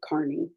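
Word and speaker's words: Kearney: Carney um it's spelled like Kierney but he pronounces it Carney um and he goes by the handle Turtle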